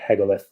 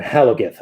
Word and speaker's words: Halagith: I can't believe he quit to join the merchant fleet, grumped Hagalith. Sorry, Halagith. I've always pronounced her name wrong, Halagith.